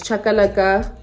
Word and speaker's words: chakalaka: the shisanyama seasoning spice we bought um the chakalaka uh it's chakalaka a mix of beans peppers and yini carrots that's how you pronounce it but there you go um we